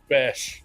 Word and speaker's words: Besh: He actually said Besh is how it's pronounced. Right. Like back, but you know what I mean?